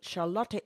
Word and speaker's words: Charlotte: And now, I say Charlotte all the time, so I will probably be saying Charlotte, but that is the correct pronunciation, pronunciation, Charlotte.